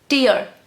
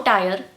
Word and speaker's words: tier: Tier. Tier. No tire, it's supposed to be tier. Tire is T-I-R-E. This is T-I-E-R.